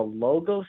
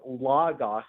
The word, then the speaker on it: Logos: I think it's uh I think it's pronounced Lagos because it's probably a Christian radio network and there's a building